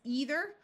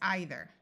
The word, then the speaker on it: either: This word could be pronounced with a long E sound as either or with a long I sound as either.